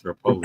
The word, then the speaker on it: Repole: It's Rapoli. Rapoli.